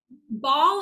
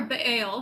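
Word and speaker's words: Baal: to the arc demons ball or bail however you want to pronounce it and molec Rule these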